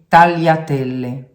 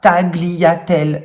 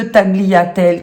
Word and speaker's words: tagliatelle: On ne dit pas tagliatelle, cela n'existe pas. Le groupe GLI en italien ne se prononce pas gli, comme en français où on a le mot par exemple glisser, mais se prononce li.